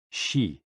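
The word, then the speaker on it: xi: with the spleen and x i pronounced like she which connects the whole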